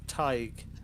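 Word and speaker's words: Tadhg: And the one before that is pronounced Tig.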